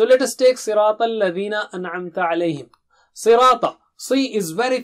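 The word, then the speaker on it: أَنْعَمْتَ: An'amta alayhim. An. Should be very clear. It's not anamta. It's not anamta. No. An-amta. So let us practice the syllables separately as per Tajweed tip number 3.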